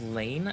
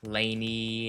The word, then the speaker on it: Leyne: I know my name is very frequently mispronounced. I I hear like laney and uh all sorts of other variations of my name, but it is pronounced lane. Like lane, like a traffic lane.